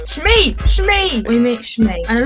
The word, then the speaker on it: Shmi: His mother, I always pronounce it wrong. Shmi!